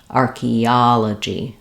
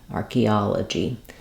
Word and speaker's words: archaeology: problem or archaeology um because we're stressing here and that third syllable that means our first two syllables are going to be quicker and our third syllable is going to be stretched archaeology archaeology it can really help